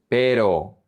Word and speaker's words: pero: So you say pero, pero, pero, but.